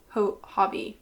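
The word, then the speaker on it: Hobbii: kindly gifted by a hobby I don't know if I said Hobie or hobby earlier I always I don't know why I say such wrong things such wrong pronunciations but it's Hobby and his friends caught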